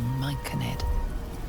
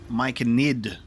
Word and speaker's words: Myconid: You see a frothing Duergar, axe drawn, crazed by bloodlust, bearing down on a young Myconid.